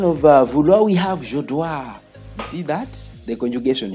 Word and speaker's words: dois: You see, I told you that we don't pronounce the letters X, S, T, D. You don't pronounce them when they appear at the end of the.